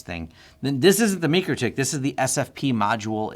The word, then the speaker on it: MikroTik: Is that I've actually logged into a MikroTik. MikroTik? MikroTik? Mikro. I think in Latvia it's pronounced Mikro.